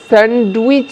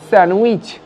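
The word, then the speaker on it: sandwich: একইভাবে স্যান্ডউইচ নয় কারণ ডিটাকে সাইলেন্ট রাখতে হবে, সো এটা হবে স্যান্ডউইচ।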